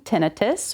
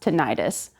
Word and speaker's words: tinnitus: So there are two pronunciations for tinnitus. The first one being tinnitus, where you have mostly clinicians and researchers using. The second one is more common around the general population, pronounced tinnitus, but either one is acceptable.